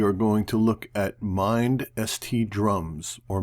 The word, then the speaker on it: MindST: going to look at MindST drums, or Mindset drums, or MindST drums. I'm not really sure on the exact pronunciation. A lot of people calling it Mindset, so we're going to go with that.